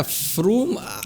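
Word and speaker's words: Frome: your sentence yeah i'm done golly don't yeah froome i guessed it because of the e in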